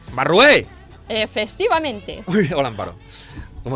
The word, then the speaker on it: Barrué: Amparo Barrué, creo que lo he dicho bien. Barrué. El acento en la E. ¡Barrué!